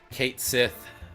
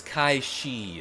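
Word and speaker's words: Cait Sith: Kate Sith best cat. Yes, Kaii is how that's supposed to be pronounced apparently.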